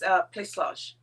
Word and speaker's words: Plaçage: Plaçage, which is spelled Placage. And that C has the under the little mark under. It's Plaçage. So it's a very French word.